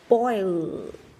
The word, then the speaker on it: boil: Boil, boil, boil, nhìn thấy lưỡi của mình không ạ? Lưỡi, đầu lưỡi đang đặt ở chân của hàm răng trên.